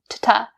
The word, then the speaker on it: to: We change to ta, to see, to see. Another pronunciation point for this phrase is upon the word if.